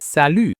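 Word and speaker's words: salut: In sal, the t is silent.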